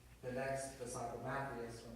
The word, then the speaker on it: Matthias: And then the 10 disciples had already called the next disciple Matthias, or Matthias, some people pronounce it. I pronounce it Matthias because that's my other nickname.